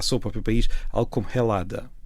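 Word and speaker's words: Ελλάδα: Os gregos chamam a seu próprio país algo como Helada. Helada, que já foi Elas. Eh, aquele primeiro som pronunciado, mas pronto, é é lada, não tem nada a ver com Gresso.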